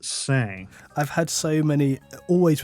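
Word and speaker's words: Seine: s because it's got but it's French so it's like sen or whatever you know you say it different I'm English I'm not French YouTube experts actually it's pronounced say I've had so many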